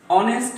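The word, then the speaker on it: honest: আবার যদি এখানে মনে হয় এরকম হয় অনেস্ট ম্যান, তাহলে এখানে আমরা দেখতে পাচ্ছি যে এইচ এর উচ্চারণটি আর এইচ এর মতো নেই, অর্থাৎ এখানে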